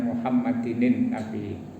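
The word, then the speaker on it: مُحَمَّدٍ النَّبِيِّ: Saya sering ingatkan ketika membaca Muhammadin ada tanwin, kemudian ada huruf mati. An-nabi itu asalnya al, maka bacanya Muhammadinin nabi.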